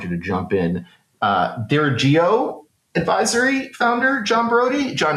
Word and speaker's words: Dirigo: Uh Dirigo Advisory founder John Brody. John, is that the correct pronunciation there? It is Dirigo, Oh, Dirigo.